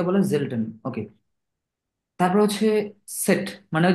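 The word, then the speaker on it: Zett: সেট মানে ওই যে জেড যেটা মেজরিটি মানুষ এটা ভুল করে এটাকে জেড পইড়া ফেলে না সাগনে সেট সাকসা সেট এটার উচ্চারণ কি হবে সেট সেট সেট এটা জেড না সেট জাগনিস জেড ওকে তারপর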